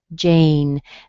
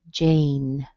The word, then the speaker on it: Jane: Jane. This has a long A in it, so make sure that you use an A sound. Jane.